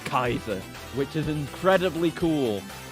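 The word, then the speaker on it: Kaixa: I thought it was like Kaiser, but no, it's Kaiser. Because it's spelled K-A-I-X A. So like it's spelt weird because it's supposed to have like the letter Kai within it. But it's supposed to be said like Kaiser, which is incredibly cool.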